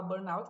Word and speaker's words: burnout: Tem gente que fala Burnout que é a a a pronúncia Mais Americana Tem gente que fala Burn que é o síndrome de burot que